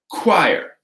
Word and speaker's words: choir: K, like choir, school, technical. All of these have a hard K sound.